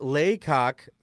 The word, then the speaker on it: Lecoq: And Wilsey said it's Lecoq, pronounced Laycock.